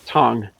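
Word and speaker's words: Thành: i've been told that the specialty district is pronounced tong so just so we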